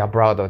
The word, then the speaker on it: abroad: abroad go abroad で abロードねと発音もやりましたねこれねうおうにはならないよとかっていう